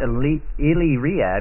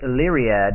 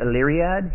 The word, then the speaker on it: Illyriad: and it's called Allie riad now it's not elite myriad which I pronounced it wrong for a long long time but it's leary ad and it helps to say Ali Riyadh here's how you say it correctly you you